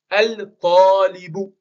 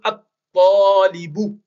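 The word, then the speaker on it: الطالب: Et pour dire l'étudiant, on va dire al-talibu. Mais en réalité, on va direct sauter le lam et on va dire at-talibu. On va pas prononcer le L.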